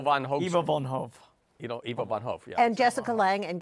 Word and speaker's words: Ivo van Hove: How do you pronounce it? Bo Van Ivo Hove. von Hof. Eva von Hove. Ivo von Hof.